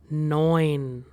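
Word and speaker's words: neun: So we have the word do because eu is pronounced as oi.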